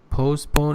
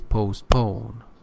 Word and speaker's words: postpone: You said 17, it is 70, first syllable. Because 17 means 10 plus 7. You see? Yeah. You said postpone, it is postpone.